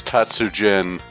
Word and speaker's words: Tatsujin: around and says it's it's pronounce Tatsu Jen and have a little